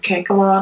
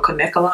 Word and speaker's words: Kanekalon: I use some Kankalon or Kanekalon, however you like to pronounce it, hair, and I just gave it a braid look.